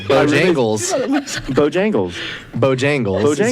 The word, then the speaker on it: Bojangles: It's like Jangle it's bells. bow time. You're like putting the emphasis on bow, like Bojangles.